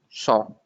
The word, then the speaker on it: cent: T is not there, so it's cent.